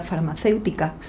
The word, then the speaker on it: farmacéutica: Y vemos también que pronunciamos más fuerte, por así decirlo, la E y no la U, si no pronunciaríamos farmacéutica.